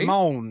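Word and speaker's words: limón: Limon, as they pronounce it in Mexico or in Spanish. Limon.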